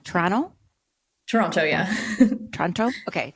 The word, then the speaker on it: Toronto: say it wrong Toronto Toronto yeah Toronto okay do I say the two T's you know it said that if you're from Toronto you don't say the second T you just say Toronto so you're saying it